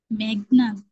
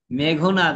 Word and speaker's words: মেঘনাদ: একটু টেনে ধরে বলো মেঘনাথ এখন বলো কি হবে মেঘনাদ হবে নাকি মেঘনাথ মেঘনাদ হবে কারণ কি মেঘ আর নাদ দুটো যুক্ত এটা কিন্তু ওই উচ্চারণের